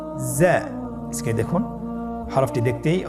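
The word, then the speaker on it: زاي: উচ্চারণ করার সময় অবশ্যই এক আলিফ টেনে পড়তে হবে, এক আলিফ টেনে পড়তে হবে। হরফটি বারিক হরফ, এই জন্যে পাতলা করে উচ্চারণ করতে হবে। জা হরফটির মাখরাজ আপনারা দেখতে পাচ্ছেন, জিহ্বার আগা সামনের নিচের 2 দাঁতের পেট ও আগার সঙ্গে লাগিয়ে উচ্চারিত হয়।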